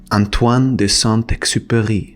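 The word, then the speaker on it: Antoine de Saint-Exupéry: how to pronounce it let me help you because it's French Antoine de santai The Little Prince as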